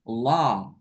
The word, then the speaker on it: law: Law. Law. Enggak pakai W. Law.